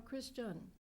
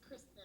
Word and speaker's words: Kristen: Kristen or Christian? It's Kristen. I know it's spelled strangely, but it is Kristen.